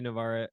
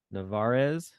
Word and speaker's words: Nevarez: keynote was uh Jorge Navarre um I always say his name wrong Nevarez notifieds Nevarez yeah so he came